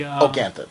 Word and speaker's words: Ganthet: Now, Principal Belding, would he be Ganthet or would he be... Ganthet.